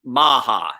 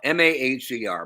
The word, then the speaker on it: Maher: pronounced Maher, Maher, Mark Maher.